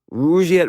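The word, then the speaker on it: Rugiet: And Rouette is spelled R U G, like rug and Iet T.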